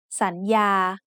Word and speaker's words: สัญญา: So the first syllable makes the sound สัน with a rising tone. The second syllable has the initial consonant Yo Ying and the vowel สระอา so it makes the sound ยา with a mid-tone. Let's write the whole word together.